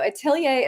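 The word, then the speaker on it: atelier: So, itilier is spelled a te l i e r. It's just the French word for studio.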